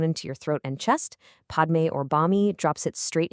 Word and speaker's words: Padme: In the original Sanskrit, the word Padme has a P and an M sound right next to each other. To adapt this to the local phonetic constraints of the time, that single syllable had to be split into 2 distinct sounds, Ba and Mi.